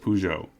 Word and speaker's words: Peugeot: remains highly unlikely this is a story of pujo and their attempts to sell cars in america